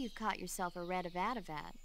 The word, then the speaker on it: Avadavat: I see you've caught yourself a red Avadavat. Avadavat.